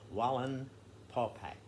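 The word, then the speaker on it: Wallenpaupack: pennsylvania can you spell the lake name wow wallen paul pack it it's spelled just like it sounds w-a-l-l-e-n p-a-u p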